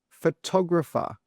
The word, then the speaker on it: photographer: How do you pronounce it? Well, the answer is photographer.